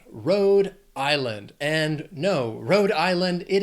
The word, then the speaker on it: Rhode Island: 3 syllables, stress is on that, the first syllable of the second word, island, Rhode Island.